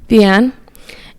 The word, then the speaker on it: Vianne: I really loved seeing the character development of Vianne. Is that how you say her name? Vianne? Mm-hmm. Vianne.